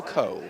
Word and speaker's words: Cool: Michael Cole, or Cool, it looks like Cool, but it's pronounced Cole, I'm told.